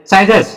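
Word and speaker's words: scissors: अगला देखते हैं बेटा SC, देखो सी से पहले एस आ गया, सी को पढ़ा नहीं जाएगा, सी साइलेंट रहेगा। अब ISSORS, इसको क्या पढ़ेंगे साइजर, साइजर्स, साइजर्स का मतलब होता है कैंची, साइजर्स का मतलब कैंची।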